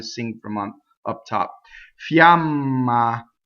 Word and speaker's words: fiamma: per month up top Fiamma so is it mm to semi vowel Fiamma so both odds are equal ah ah right the mm how